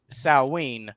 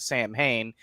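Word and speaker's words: Samhain: So, uh, but historically, October 31st marked Sawene. I know it's s a m h a i n. So, a lot of people, myself included, often pronounce it Sam Hayne, but Celtic is a little bit weird and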